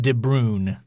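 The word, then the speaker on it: De Bruijn: B U R I J N. I think that J is silent.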